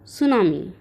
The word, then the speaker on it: tsunami: Chapter number 5 Yuki and द सुनामी। T silent रहेगी बच्चों, okay.